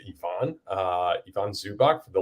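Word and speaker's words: Ivica: say this guy's name it's spelled ivika but I believe it is Yvonne uh Yvonne zubach for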